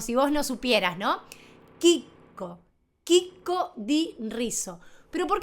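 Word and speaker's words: chicco: Si vos agarrás un paquete de arroz en Italia dice Kiko.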